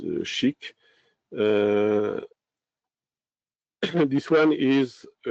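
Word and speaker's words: SCHC: Uh the s that is pronounces shik.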